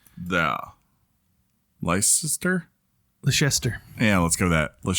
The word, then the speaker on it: Leicester: And there's the, is it like Leicester? Like Lancaster? I'm not sure how you say that. Can you show it to me? Right there. Leicester? Leicester.